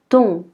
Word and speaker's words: thon: Pour TH, le H est muet. Ça veut dire qu'on ne va pas le prononcer. Donc on dira ton, ton.